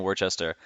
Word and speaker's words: Worcester: Worcester? So I keep saying Hmm. Worcester because that's like out, but you keep saying Worcester or Worcester.